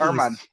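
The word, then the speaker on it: Germán: Domingo German on the New York Yankees. Herman. Sorry. That's silent H or silent G.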